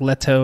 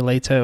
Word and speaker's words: Leto: i think she said i think they said it more like leto or later or something probably doesn't